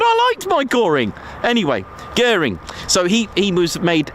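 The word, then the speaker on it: Göring: Guring, not goring. Gorang is a um is it a Malaysian stir fry dish with rice? Sorry about that. Anyway, but I liked my goring. Anyway, guring.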